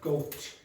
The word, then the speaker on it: goat: Stop golding me. Okay, that's not that's not goat. So you have to aspirate. So ying hung do it again but aspirate.